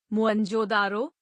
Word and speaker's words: मोहनजोदड़ो: हड़प्पा तथा सिंध का मोहनजोदड़ो मूल उच्चारण मोहनजोदारो शाब्दिक अर्थ प्रेतों का